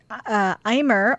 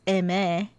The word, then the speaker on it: Aimer: So I listened to some Aimyon, Aimer, which I think we've been saying her name wrong this whole time, as in French, it's Aimé.